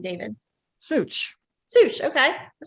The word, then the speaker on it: Suich: how do you say your last name david such zeus okay that sounds easy enough okay um